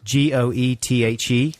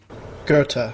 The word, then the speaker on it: Goethe: writer i know this g-o-e-t-h-e garter right let's have the real pronunciation gerta yeah gerta yes because